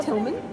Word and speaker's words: Tilgham: Is that the way you pronounce Yes, it? Tilgham, yes.